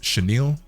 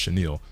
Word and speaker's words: chenille: And then here on the tongue, you have this patch which is like I believe it's chenille. C H E N I L L. I think it's pronounced chenille, right?